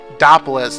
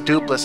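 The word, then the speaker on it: Doopliss: So his name is Duplis. Doppelis. No, it's Duplis. I think it's Duplis.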